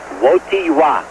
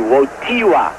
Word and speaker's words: Wojtyła: It's Wojtyła. Wojtyła. Wojtyła. The accent is on the T. Wojtyła. Although you spell it W-O-J-T-I-L-A. Wojtyła. My Polish friends have assured me of that.